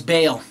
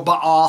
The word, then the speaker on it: Baal: and that name was ba or Baal however you want to pronounce it now try to make